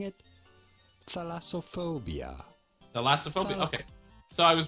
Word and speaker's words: thalassophobia: Well, pronouncing it, thalassophobia.